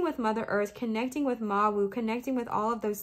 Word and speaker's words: Mawu: It is pronounced Ma-Wu.